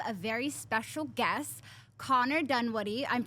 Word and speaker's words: Dunwoodie: today we have a very special guest Connor Dunwoody I'm pronouncing that right right you got it and